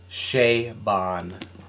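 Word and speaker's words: Chabon: cavaliere and Clay by Michael shaon that's right that is the correct pronunciation of that Shea Bon um you need to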